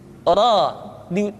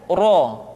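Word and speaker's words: ر: So, so, termasuk huruf ra diucapkan dengan membuka rongga mulut kita. Ra tidak ro atau bo, terbuka rongga mulut kita.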